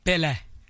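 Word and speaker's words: Pelé: Pelle. Because it's, you know, annunciation Portuguese, Brazilian.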